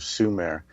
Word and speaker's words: Sumer: Thank you, Justina, for letting me choose the subject of the ancient civilization of Sumer, which is spelled S-U-M-E-R, which is summer with only one M.